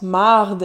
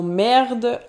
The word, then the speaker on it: marde: ces de la mare de noter qu'il prononce mardi et non merde autre trait du français